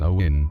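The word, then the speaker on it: Samhuinn: que en gaélico escocés samuín pronunciados awén designa la fiesta de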